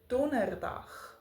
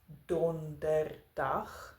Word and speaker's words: donderdag: In words where there is a D that follows an N, we usually drop the D in our pronunciation. For instance, donderdag, sonder, ander.